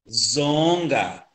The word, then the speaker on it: zonga: Mas se eu disser zonga, zonga, já estou a transmitir aqui a intenção, quer dizer que é medição, o ato de medir é que vem exatamente